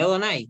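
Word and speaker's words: יהוה: ¿Y cómo se pronuncia Yud Hei Bat Hei? ¿Se acuerdan de la clase pasada? Ani, Ani Adonai.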